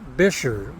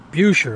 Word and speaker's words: Buescher: y'all want to sound like a local it's pronounced bisher not buer I know you think it would be buer but it's not bisher okay anyhow let's go inside and check out